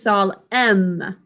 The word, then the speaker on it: solemn: please write solemn make sure you're sounding out that last syllable as m m great job rishith i think you know we drew a similarity between this and column which has an uh this one is sol m great job everyone